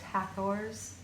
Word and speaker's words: Hathor: This energy is the Hathor. Sometimes pronounced Hathors or Hathor, the sacred cow goddess of Egypt, but also the wider interdimensional beingness, the frequency of energy that is the Hathors.